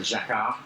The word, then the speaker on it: Jacquard: Well, if we ask our French friends here, they'll tell you how to say it properly. So Jacquard, although they would do a better job than me saying that. In England, we would probably say Jacquard, and in the States, you might say Jacquard.